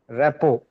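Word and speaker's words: rapport: Repo. Yes. RT, both the letters are silent. So you just say repo.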